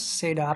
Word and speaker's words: CEDAR: d a r project i pronounce this as said our logic so actually this is